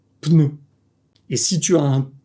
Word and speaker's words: pneu: la France et plus ce mot va devenir : “pe-neu”. Parce que dans le Sud, on aime bien ajouter des -e dans les mots. Mais si tu veux le prononcer correctement : pneu.